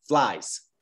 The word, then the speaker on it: flies: Y Gustavo, para la pronunciación aquí, tú estás diciendo flies como dos sílabos. Solo es un sílabo, flies. Flies, flies. Perfecto, flies.